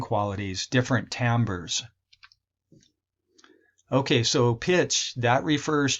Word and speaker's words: timbre: is and then tambour this is not pronounced timbre but as Tambor and that refers to